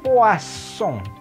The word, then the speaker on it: poisson: Nah, kalau yang ini, double S itu berbunyinya jadi S. Maka kata yang ini, ikan, itu dibacanya poisson.